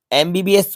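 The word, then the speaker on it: MBBS: right answer होगा this is a ball एमबीबीएस एमबीबीएस को आप राइट करके देखेंगे ए का साउंड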